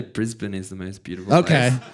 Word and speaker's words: Brisbane: Did I say it correctly, by the way, Brisbane?